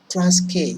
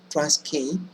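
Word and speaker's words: Transkei: The first two, I've brought them because they have the same pronunciation. Look at this. Cis-K, trans-K. So whenever you feel like perhaps you're getting confused or forgetting, remember the pronunciation. Cis-K, trans-K.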